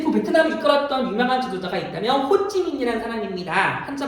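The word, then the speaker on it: Hồ Chí Minh: 자, 이때 베트남을 이끌었던 유명한 지도자가 있다면 호찌민이라는 사람입니다. 한자 발음으로는 호정명이라고 부르는데요.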